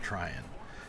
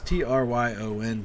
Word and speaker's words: Tryon: I'm saying that's how it's pronounced, Tryon. It's Tryon.